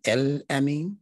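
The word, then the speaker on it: الأمين: attribute we call him el amin you never hear people saying al i mean well how come it's because that was the ancient arabic way of pronouncing that phrase they'll spell it sometimes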